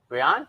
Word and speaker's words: Brion: Brion? Yeah, Brion. Brion? Yeah. So it isn't Brian.